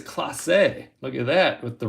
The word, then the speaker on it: Clase: appreciate that emmanuel clase i was pronouncing it clays and i think it's class a look at that with